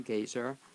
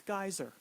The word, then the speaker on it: Gaiser: guest of today's show and she is gazer who's a musician author among other things and I'm pronouncing it right actually it's geyser geyser I I was going to ask you